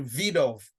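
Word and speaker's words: Wiedehopf: w is is um is pronounced as a v so it's a vid off so it sounds like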